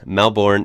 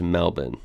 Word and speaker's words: Melbourne: So yeah, Canberra, and Melbourne is said as Melbourne. So the American in me would have said Melbourne at first, but it is Melbourne.